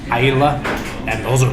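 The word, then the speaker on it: Islay: called Isa it's spelled like Isla but it's pronounced Ila and those are like Hefty like when you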